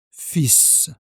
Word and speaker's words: fils: Dans ce mot, on prononce le S final. Fils.